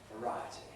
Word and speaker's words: variety: by a vowel, but in variety, where the stress is thrown on it by the -ty suffix, you get I, variety.